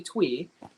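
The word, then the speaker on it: Thuy: okay so the obviously twee uh yeah she's uh her name is pronounced tweet we shrank uh it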